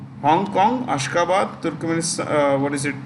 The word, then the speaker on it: Ashgabat: ASHGABAT. ASHGABAT. Ashgabat. The T is pronounced with a D.